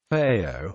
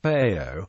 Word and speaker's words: Payot: Payot, also pronounced pet, peyot, or peyos, peyos, peyois in Ashkenazi pronunciation, is the Hebrew word for sidelocks or side curls.